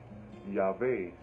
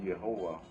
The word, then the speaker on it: YHWH: Et les Hébreux, en fait, ils prononcent Yahvé, pas Yehovah.